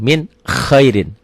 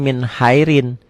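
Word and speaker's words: مِنْ خَيْرٍ: Ini yang saya katakan, kalau Ibu dan Bapak pemula baca pakai Latin akan salah. Tuh lihat, min khairin dibaca tulisan Latinnya min hairin. Nggak salah toh kalau orang baca min hairin, karena memang seperti ini. Makanya belajar sama saya sekarang, tulisannya nggak usah ngikuti ED ya. Ejaan yang disempurnakan nggak usah. Untuk baca Quran mah ngikutin bunyi saya aja. Min khairin, tulisannya juga min khairin.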